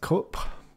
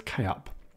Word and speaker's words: Kup: backup tool called k-up i believe that would be pronounced i don't think that's just cup i'm sure it is k-up so it is a